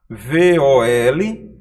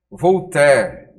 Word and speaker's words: Voltaire: Bom, veja só como se escreve o nome desse filósofo. V-O-L-T-A-I-R-E. Voltaire.